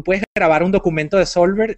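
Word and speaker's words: Soulver: Yo voy a recomendar una que no es gratis, que se llama Solver.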